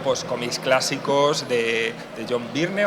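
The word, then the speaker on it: John Byrne: Y por supuesto, pues cómics clásicos de de John Birne o John Barn, como se pronuncia a día de hoy, y la, por supuesto,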